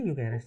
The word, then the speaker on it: Gyökeres: Itu bacanya Gyökeres.